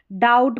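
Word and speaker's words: doubt: डाउट पढ़ते, B silent है।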